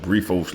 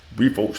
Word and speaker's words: Briffault: There's a concept called Brifault law. I think it's spelled BRIFFAULT. Brifault law.